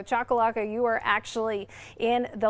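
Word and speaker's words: Choccolocco: if you all recall when I first started here I did not pronounce that correctly and you guys all helped me learn how to pronounce that so thank you so chakalaka you are actually in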